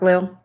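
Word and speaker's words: Lille: I think it's lil. Suburbs of Paris are not very attractive. You're not near sea ocean. It is pronounced like lil.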